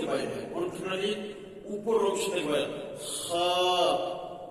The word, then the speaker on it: خ: বড় হা আছে আল আলহামদু হা খ এর উচ্চারণ কন্ঠনালীর উপর অংশে হয়। কন্ঠনালীর উপর অংশের হয়। খ খ এবার বলেন জিমের পেটে এক নুক্তা হাখালি